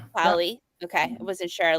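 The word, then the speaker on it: Polley: And how do you say it's Polly? Is that how you say her? Sarah Polly. Sarah Py. Yeah, Polly.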